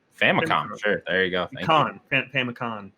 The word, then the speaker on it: Famicom: I could not pronounce the first word in that, so I will not even try. Famicom. Famicom.